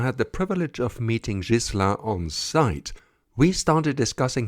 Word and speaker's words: Ghislain: but first we had to sort out some pronunciation issues hello I hope is the right way to pronounce it it's JIS jisa but I mean almost 10 years in the